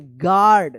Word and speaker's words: guard: गार्ड।